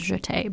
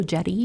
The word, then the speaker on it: Jette: but they thought stay and jeté sounded similar to how people were supposed to pronounce jeté, because it's spelled Jette, so people kept saying, hello, Jetty, Mr. Jetty.